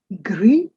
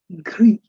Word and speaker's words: gris: Gray would be gris. The last S is not pronounced for this format, of course.